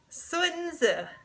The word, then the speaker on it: Sun Tzu: It is not Sun Tzu. It is Sun Tzu.